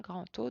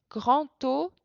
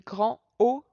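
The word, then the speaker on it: grand O: il nous reste un grand taux de N cube donc ça ça se prononce grand taux de N cube et on fait en général la liaison sinon c'est grand haut de haine cube ou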